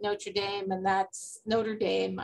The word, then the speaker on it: Notre Dame: Justice Barrett went to Notre Dame, which I keep mispronouncing in the French way.